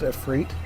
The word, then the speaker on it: Ifrit: By the way, it's pronounced Ifrit. It's, I believe, the Sanskrit word for demon, if I remember correctly.